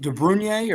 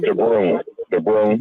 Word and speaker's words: DeBrun: Cage, is it DeBrunier or DeBrun? How do you pronounce his name? DeBrun, yeah. Okay, Cage DeBrun.